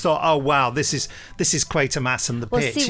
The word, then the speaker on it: Quatermass: is- at it is and I see mass Quartermass. Some people do say Quatermass, and in some of the actual episodes they say Quartermass or Quatermass. That everyone pronounces it differently, but generally it's meant to be Quatermass.